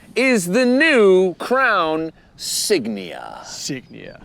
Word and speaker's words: Signia: the new Crown signia signia signia not Insignia not Insignia it's like a badge just signia signia maybe it's a silent g likea s it means sign in Latin oh okay basically we